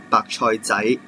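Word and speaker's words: 白菜仔: And there may be some smaller size of the Chinese cabbage, that is 白菜仔, 白菜仔.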